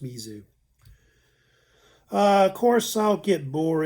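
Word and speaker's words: Mese: So M-E-S-E is usually pronounced Mizu.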